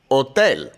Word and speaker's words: hotel: The H in Spanish is silent when it's at the start of a word like hotel.